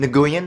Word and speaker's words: Nguyen: So, Jack Nguyen, it's Jack Nguyen, you mean Nguyen, it's pronounced Nguyen, clearly says Nguyen!